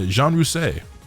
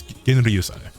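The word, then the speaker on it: Genryūsai: Uh, Jean Rusei or Genriosi. I was I heard it say pronounced as Jean Rousi so much. I'm pretty sure it's he's Japanese. It's It's Genriosi.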